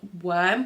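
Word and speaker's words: wyrm: it so they're called the freckled book worm but it's spelled like Wy RM and I haven't watched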